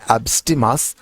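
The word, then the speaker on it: abstemious: education বা education এছাড়া অ্যাবস্টিমিয়াস এবং ফ্যাসিশাস দেখুন উচ্চারণটা হবে অ্যাবস্টিমাস এন্ড ফ্যাসিশাস এই দুইটা শব্দ এমন দুইটা শব্দ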